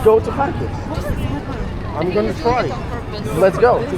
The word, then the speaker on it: Kharkiv: go to Lviv, I'm just saying like go to Spell it for me. like couple lessons. Kharkiv. Kharkiv.